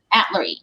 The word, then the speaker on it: Atluri: And is it, how do you say, Atluri? Atluri.